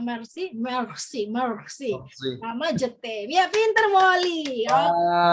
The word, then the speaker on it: merci: Kalau merci, merci.